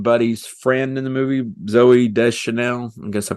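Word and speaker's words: Zooey Deschanel: ends up being Buddy's friend in the movie Zoe de Chanel I guess I pronounce that right that's right you got it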